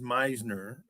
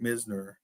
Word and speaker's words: Misner: I think my name has been pronounced Meisner, but everybody that reads it always calls it Misner.